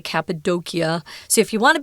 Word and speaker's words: Cappadocia: at least i'm not sure about the brits pronounce it cappadocia which is probably a more of american pronunciation